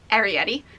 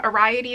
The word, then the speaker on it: Arrietty: yet this is Arrietty also you say it Arrietty a lot of my friends like when I first got her weren't sure how to say it um whenever like the vet's office cause to like confirm an appointment they're like we're calling to confirm a riot II as appointment they named